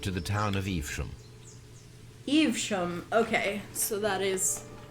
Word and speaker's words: Evesham: Evesham.